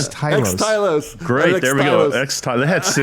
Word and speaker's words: Xtylos: What's the correct pronunciation? Xtylos.